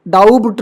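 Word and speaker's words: doubt: डेप्ट है डेप्ट नहीं date date वैसे डाउट डाउट नहीं डाउट वैसे ही सटल सबटल नहीं सटल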